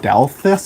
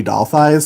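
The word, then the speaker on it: Dalthis: like randomly generated and it was spelled like d-a-l-t-h-i-s like delphis I think but all of my friends just called me doll thighs so that eventually became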